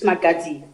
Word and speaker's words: Magadzi: Is it Magadzi, or what is the correct pronunciation? That's correct. Magadzi. That's correct. It's Magadzi.